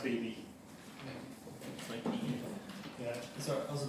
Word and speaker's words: Beebe: It's pronounced Beebe.